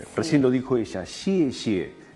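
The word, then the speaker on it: xie xie: Ejemplo de consonantes vimos ya, por ejemplo, la palabra gracias era xie, xie. Esa X que se pronuncia como sh, de cuando pedimos silencio.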